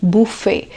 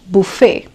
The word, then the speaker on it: buffet: onion it's onion onion then Buffet the tea is silent and it's not Buffet it's Buffet it is Buffet then wetness day as you call it it's